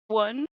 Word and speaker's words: Xuan: It's kind of like the Americanized pronunciation. So it's actually pronounced swan and it means spring in Vietnamese.